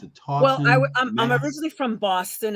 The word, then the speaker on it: Taunton: You're originally from, how do I pronounce it? Taunton, well, I'm originally from Boston, and I was raised in Taunton, which is southeastern Massachusetts.